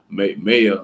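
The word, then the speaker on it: Maia: I know it's supposed to be pronounced Maya, like MAY hyphen A.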